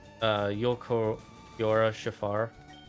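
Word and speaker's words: Ulquiorra Schiffer: My dyslexia struggled to pronounce it too when I first saw him, but it's Yolkiora Shafar.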